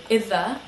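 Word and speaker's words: إذا: that we gave were itha which is an a conditional word technically means if um it is very often pronounced izza very quickly is and so we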